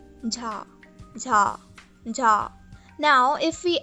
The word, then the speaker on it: 자: Now this is the sound of J in English, but is a lot more softer, as you might have guessed already. This again has no equivalent in English, so listen closely.